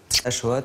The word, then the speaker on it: Haxoa: Achoa, ça s'écrit H-A-X-O-A. Comme Bichente Lizarazu.